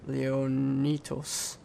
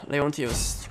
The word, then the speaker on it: Leontios: I even said his name wrong. I was saying like Leonitos, right? Leontios, go train.